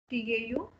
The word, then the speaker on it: tau: how you have to make the symbol uh pronounced as store tau this is analog of force and the linear